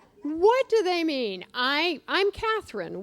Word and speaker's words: Cathryn: I'm Cathryn. Well, many people call me Carolyn. Now, they do that because my name is spelled with an R-Y-N at the end.